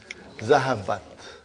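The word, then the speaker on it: ذهبت: zahaba okay and then I'm putting Here open ta with a sukun. How do you pronounce it? Zahabat zahabat.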